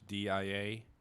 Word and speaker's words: diadem: I'm going to say diadem. It's diadem.